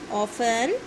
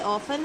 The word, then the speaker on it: often: ठीक है, that is ऑफन, T silent है इसमें। ठीक है, ये ऑफन है।